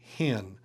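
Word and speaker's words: ἕν: If it's a smooth breathing, for example, epsilon new would be in. If it has a rough breathing, it would be hen.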